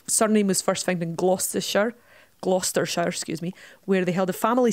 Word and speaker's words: Gloucestershire: I hate to correct you, I believe it's pronounced Gloucestershire.